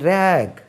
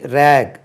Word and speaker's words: raw: raw இது நல்ல கவனிங்க. RAW இது நம்ம ரா ரைஸ் பச்சை. த மேங்கோ இஸ் ரா சொல்லுவோம், ரா சொல்லக்கூடாது. இது ரோ. RAW இது ரோ.